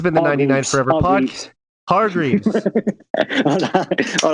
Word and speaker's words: Hargreaves: Hargreaves? Am I saying it right? Yeah. Okay. Yeah, Hargreaves.